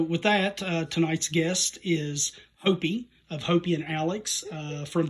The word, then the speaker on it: Hopey: I know how to pronounce it because I've talked to you before. It's Hopey.